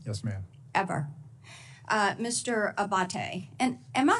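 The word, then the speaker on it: Abbate: to happen again yes ma'am ever uh Mr Abate and am I saying your name properly we've heard it pronounced three different ways today in the hearing aate Senator aate okay thank you um you had mentioned a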